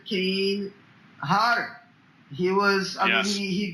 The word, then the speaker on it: Hodder: No, it's Hodder, double D.